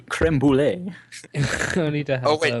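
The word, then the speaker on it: crème brûlée: All told, so- the trials and tribulations of Cream Bullet. Pronounced Cream Bullet, and then corrected to Creme Brulee.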